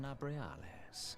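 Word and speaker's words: Nabriales: Give me the pronunciation immediately. I am Nabrialis.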